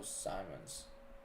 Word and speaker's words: Simons: but just a little heads up the correct pronouncing pration St Simmons long eye not short eye so Simons okay I know I probably slaughtered that yesterday